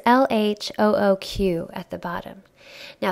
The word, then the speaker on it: LHOOQ: Now, if we try to pronounce that phonetically in English, it almost sounds like look, right? Like he's telling us to look. And apparently, if you pronounce it letter by letter in French, it makes out a sentence that basically means she's got a hot butt, right?